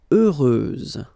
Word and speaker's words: heureuse: Heureuse, final S, not pronounced.